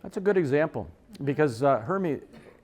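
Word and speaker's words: Hermès: That's a good example, because Hermes, I guess is how you pronounce it, right? Hermes, Hermes, whatever the hell. Potato, what the hell. It's Hermes.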